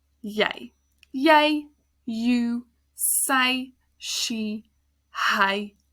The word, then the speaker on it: jy: And then jy, you. It's the same y sound, even though it's a J and a Y, because the J in Afrikaans is pronounced as a y sound. Jy.